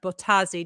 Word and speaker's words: Bottazzi: Maria Elena Bottazzi. Did I pronounce her last name correctly? Perfect. But they were 2 T's, 2 Z's.